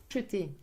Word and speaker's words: acheter: Usually pronounced acheter. Again, we have a E in the middle that we eat up.